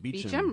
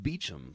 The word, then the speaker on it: Beauchamp: And then you say, then you quote, is it Beauchamp or Beauchamp? I don't know how to say it. Beecham, really? Well, that's what it says in his little bio in Vox. Bio? It's pronounced Beecham.